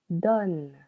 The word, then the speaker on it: donnes: Tu donnes. Silent S. One syllable.